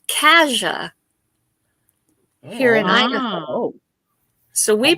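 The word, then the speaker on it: Cassia: born in the county it's c a SS I a and it's pronounced Kaja here in so we pronounce it Kaja K we moved to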